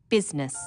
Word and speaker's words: business: u g words business people don't pronounce the I business sometimes misspellings occur because